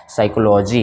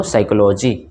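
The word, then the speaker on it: psychology: अंग्रेजी किस होती है पी से शुरू होता है ठीक है ना और पी चूंकि एस से पहले आता है तो साइलेंट हो जाता है तो यहां पे इसको पढ़ा जाता है साइकोलॉजी क्या पढ़ते हैं इसको साइकोलॉजी ठीक है ना उसी तरह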